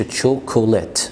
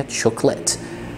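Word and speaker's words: chocolate: في الاكلات ما تقولش تشوكولات، ما تنطقش الاو الثانيه، تشوكولات.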